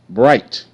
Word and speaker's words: bright: be quiet sh sh i g h can make the I I I sound but the GH is silent it makes no sound bright b i bright bright